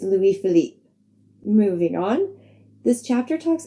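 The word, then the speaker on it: Louis Philippe: who in the episode I called Louie philippy I do know my pronunciation was completely wrong in my defense I just watched a movie with Ryan philippy in it so I guess he was on my mind a bit I am sorry for the mispronunciation it's Louis Philip moving on this chapter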